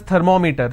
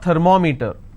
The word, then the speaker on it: thermometer: We all pronounce this as thermometer. Thermometer. It's not thermometer. It's thermometer, right? Now meter is pronounced as meter. It's thermometer. It's not thermometer, it's thermometer. So I will pronounce, or I will stress here, because meter itself has 2 syllables.